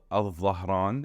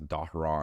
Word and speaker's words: Dhahran: But the biggest one is called Al-Dhahran in Arabic, or in English people pronounce it as Dahran.